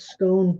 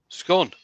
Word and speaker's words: scone: would you pronounce it scone no the O has to be emphasized as an O because of the E that follows at the end yeah but I don't